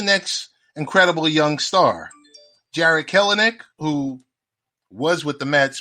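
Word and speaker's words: Kelenic: worked out um nick don't pronounce the extra e it's just killing it oh what did i say you said keller nick oh nick nick all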